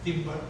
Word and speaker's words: timbre: You can measure the intensity of sound, which is this dimension there, and you can measure also what is called the timbre.